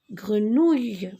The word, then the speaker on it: grenouille: Alors, pour la prononciation du mot grenouille, beaucoup de personnes le prononcent grenouille. Alors, moi, je vous conseillerais de le prononcer grenouille. Ouille. Une jolie grenouille.